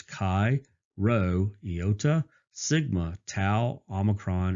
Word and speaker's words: chi: some people pronounce this chive and that's not correct the greek letter is actually chi it's the same sound as you see in the in the word lock so lock is spelled